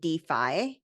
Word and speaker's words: DeFi: one question right there you pronounce it Defi and not defi I know it's spelled